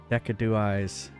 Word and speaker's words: Decidueye: It converts Z power into crystals, but upgrade Decidueye's. Would you say? Oh, you're saying it's not a K, it's a S.